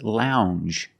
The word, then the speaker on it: lounge: and this word is lounge Lounge it makes the regular n um Lounge it follows the same pattern as orange and change it's a regular n plus the soft J sound Lounge a lounge is